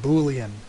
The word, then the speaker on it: Boolean: And people like talking about Boolean variables because they like saying the word Boolean. They also like mispronouncing it and saying Boolean. That is incorrect. It's named after a guy named Boole, and these are his kind of variables.